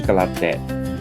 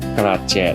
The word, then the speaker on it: Kratie: 菊景的英文讀音是 Galatdet，但是本地語言高棉語的讀音呢，卻是 Galatjet，好像不太相似吧？那是因為在法國殖民期間，它是按照法語的發音寫下來的，最後再